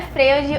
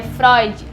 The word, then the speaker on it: Freud: em fre não gente não é fre o nome dele é Freud porque se escreve FR mas o nome dele se diz se pronuncia Freud Ok essa é uma